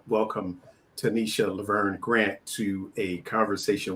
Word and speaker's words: Tanisha: it Tanisha or Tanisha I pronounce it Tanisha I prefer Tanisha okay then we are